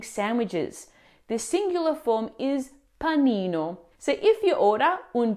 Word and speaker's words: panino: Pini when referred to one sandwich when the correct pronunciation is panino for one sandwich.